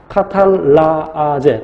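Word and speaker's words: catalase: 카탈라제 또는 카탈리스라고 발음하죠.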